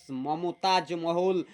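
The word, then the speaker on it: Mumtaz Mahal: আরজুমান্ড বানু বেগম ওয়াজ letter renamed মমতাজ মহল বা মুমতাজ মহল। মমতাজ আর মুমতাজ একেকজন একেক রকম উচ্চারণ অর্থাৎ প্রোনাউন্সিয়েশন করতে পারে।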